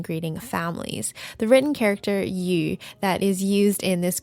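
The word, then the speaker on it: 余: families the written character you that is used in this greeting is the character meaning Surplus or more than and its pronunciation is the same as the character for fish you so again this is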